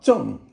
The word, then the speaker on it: 正: Now, 正 is fourth tone, and it means upright.